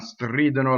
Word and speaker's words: stridono: So it's always on the antepenultimate, or it's on a strange stress, right? So stridono.